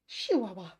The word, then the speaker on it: Chihuahua: not the guy also love the way um the the sweds pronounce Chihuahua they say chihuahua shihua sounds very exotic uh Julia's sister has